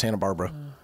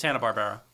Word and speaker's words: Hanna-Barbera: what other shows uh is it Barbera I thought it was Hannah Barbara I don't know whatever I'm just Tom and Jerry I'm mispronouncing everything yeah Barbera yeah it's Hannah Barbera okay oh dude I